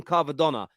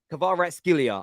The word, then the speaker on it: Kvaratskhelia: Google Translate's been helping me get it right, because I normally call him Kvaratskhelia, but his full pronunciation is Kvaratskhelia. I think that's how Google Translate is pronouncing it.